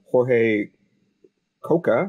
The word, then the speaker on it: Jorge Coca: I'm your host, Alan Wyma, and today we have Jorge Coca, I hope I said that correctly, Yes, and you did.